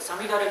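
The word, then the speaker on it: 五月雨: さつきの雨と書いてさみだれという意味です。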